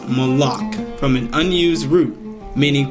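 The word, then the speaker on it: מלאך: 4 397 it basically is a word is pronounced malach from an unused root meaning to dispatch as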